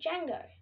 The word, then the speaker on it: Django: my dog's name is django so my dog's name is django starting with a d the d is silent so you say it django i was so proud